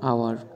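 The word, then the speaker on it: hour: পারেন উজ্জ্ব দাগে যেমন আওয়ার মানে ঘন্টা এখানে কিন্তু এইচ এর উচ্চারণ ভাওয়েলের মত হয়েছে অর্থাৎ এইচ যদি না থাকতো এখানে তবুও কিন্তু উচ্চারণটা আওয়ারের মতই হতো অনেস্ট মানে সৎ এখানে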